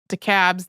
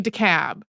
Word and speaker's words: DeKalb: So I had a moment before we recorded where I was like, I feel like there's one of the DeKalbs that says it differently.